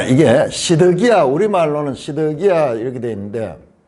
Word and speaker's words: 시드기야: 자, 이게 시드기야, 우리말로는 시드기야 이렇게 되어 있는데 정확하게 읽으면요. 체데키우. 이거는 체데키누예요. 체데키누. 이렇게 끝자리가 달라요. 이거는 체데키야. 우리가 근데 야에다 뒤에 우가 붙었어. 치드큐. 그 요 발음을 좀 약화시켜가지고 그냥 시드기야 그렇게 했는데 체데크가